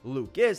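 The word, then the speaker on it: Lukes: RBI double Nathan Luke's well at least it's spelled Luke's it's actually Luke is that's his first career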